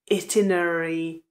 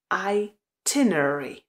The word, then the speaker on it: itinerary: lámu jazyk a pozor ta výslovnost není itinerary ale přízvuk je na druhé slabice A vyslovíme itinerary itinerary itinerary takže na začátku máme i ale přízvuk ten důraz je až tiner itinerary i Check The itinerary